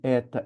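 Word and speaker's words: ἦτα: Essa é a letra ETA. É como se você falasse: "Eita, que diferente".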